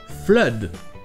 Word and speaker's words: flood: Et d'ailleurs, vous avez un autre mot avec ces 2 O qui se prononce E, c'est flood.